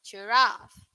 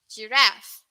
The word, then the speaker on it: giraffe: us and uk okay in uk the pronunciation is a bit uh longer but in us it's a bit shorter giraffe giraffe that's for